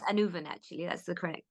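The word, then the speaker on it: Annwn: because another word for the other world is anwin or it's pronounced anven actually that's the corre correct pronunciation but it's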